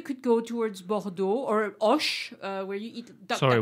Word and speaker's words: Auch: Oh, is it A-U-C-H. Ah, yeah. Auch. I always thought that was pronounced ouch. No.